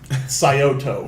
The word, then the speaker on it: Scioto: Scioto Scioto.